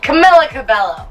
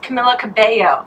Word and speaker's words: Camila Cabello: Camila Cabello. That's not how you say it. And I got shit on because of it. Camila Cabello.